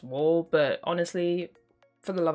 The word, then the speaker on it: W.ALL: or w dot all i'm assuming it's pronounced wall but honestly for the